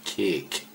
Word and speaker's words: kék: Not kek, cake.